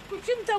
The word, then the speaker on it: кочина: от станислав какво има кочината му е в моя до кочина ударението е кочина кочина вие го наричате кочина кочина го наричаме кочина кочина но и също